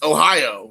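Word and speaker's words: おはよう: konichiwa in the morning it's easy because Ohio just like the state it's not spelled the same but it doesn't matter about the spelling Ohio and more formal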